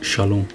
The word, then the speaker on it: shalom: እዛ ሰላም እዚኣ ሻሎም እያ ትብል Den här friden uttalas shalom.